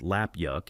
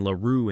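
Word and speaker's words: 腊肉: Laroo, pronounced lapyuk in Cantonese and Laroo in Mandarin, is arguably the most famous preserved meat in Chinese culinary tradition.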